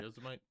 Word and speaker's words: Yosemite: I think, is it Yasemet or how do you pronounce that word? Yazamite I always, or yeah. Yosemite.